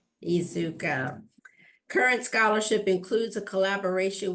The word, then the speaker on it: Iizuka: Iizuka. Iizuka.